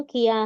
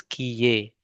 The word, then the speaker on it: किए: This is kiye because e is written, not a at the end.